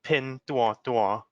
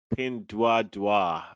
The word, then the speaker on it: Pinduoduo: in the chinese so in chinese it's called pin tua tua pin dua dua and in america i